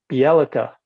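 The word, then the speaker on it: Bjelica: i just don't know tucker no no um yellika bialitza thank you that's how you pronounce it the elites um so they were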